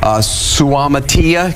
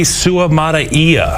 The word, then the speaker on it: Suamataia: And what that does is it allows them to move Suamatia. Go ahead. It's Kingsley Suamataia.